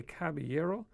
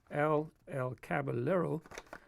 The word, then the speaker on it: Caballero: By the way, it's if you know Spanish, you would say Caballero. But I did some research, and apparently he pronounces it El Caballero.